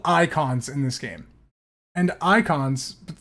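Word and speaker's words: Eikon: in this game and icons not spelled like icons because you know it's Final Fantasy it's like spelled e-i-k-o-n um icons that are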